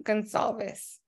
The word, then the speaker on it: Gonsalves: is bookkeeping 101 with our guest speaker Gonzalez hopefully I pronounced that right that was good my name